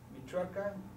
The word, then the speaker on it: Michoacán: Chihuahua Coahuila Guanajuato Jalisco Michoacán Oaxaca tascala Zacatecas y se pronuncian así meiso chihuahuan Cuahuila guanajuat Jalisco michuaca huasca clasal y Zacatecas hasta aquí si alguien quiere